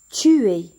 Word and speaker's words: tu es: Tu es. ES se prononce est. On dit tu es.